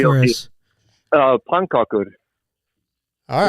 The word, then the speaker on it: pannkakor: Do you like flask and pancaka?